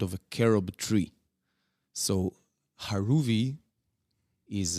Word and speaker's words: Haruvi: In Hebrew, it's pronounced Haruvi. The H and the R is different in Hebrew.